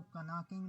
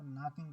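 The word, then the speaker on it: knocking: अब ये के साइलेंट है, इसको कनाकिंग नहीं पढ़ेंगे, इसको नॉकिंग पढ़ेंगे, तो के साइलेंट होगा।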